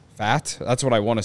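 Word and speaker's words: Pfaadt: Fadd. Fat?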